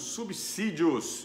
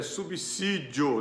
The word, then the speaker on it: subsídio: E hoje a gente vai discutir a questão dos subsídios. Isso, você ouviu corretamente. A pronúncia correta é subsídio, não subsídio.